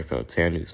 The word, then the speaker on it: Fautanu: Okay, guys, I finally got Troy Fautanu's name correct.